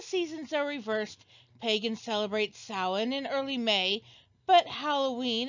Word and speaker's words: Samhain: Okay, yeah, first it's pronounced Samhain, like Michael just said.